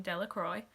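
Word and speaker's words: Dellacroy: dickie de la croix the villagers pronounced his name de la croix eventually made a great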